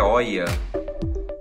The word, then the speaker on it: Hoya: Vou falar Hoya, tá? A pronúncia certa é Hoya, mas eu gosto de Hoya, então vamos lá.